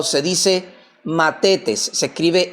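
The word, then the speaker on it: μαθητής: dice llama o se pronuncia o se dice mates. Se escribe m a t h e t e s. Matetes, que significa simplemente un pupilo o un alumno.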